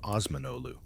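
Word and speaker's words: Osmanoğlu: The name Ottoman itself comes from Osman Ottoman, being the Western mispronunciation of Osmanolu, or son of Osman.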